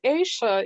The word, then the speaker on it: Esha: It's Aisha, even though it's spelled with an E.